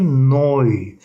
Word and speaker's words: neu: Ya da Neu. Yeni demek. EU'ya oy koyduğumuz zaman ne ile birleşince noy şeklinde okunuyor arkadaşlar.